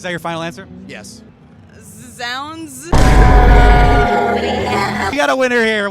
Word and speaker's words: zZounds: Z Zs is that your final answer yes Zounds we got a winner here we got a